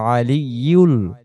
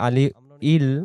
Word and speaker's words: العلي: ওয়াহুয়াল আলিয়ুল, আমরা অনেকে পড়ে আলি ইল বা আলি উল বলি, এখানে ইয়া পেশ ইউ,